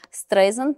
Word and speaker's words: Streisand: що будь ласка занотуйте що стрийзанд вимовляється як Сент як пісок тобто Барбара стрейдж Ага